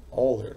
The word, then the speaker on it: Euler: certo a relação de Euro matemático suíço Leonardo Power né pronuncia-se no alemão né já que ele era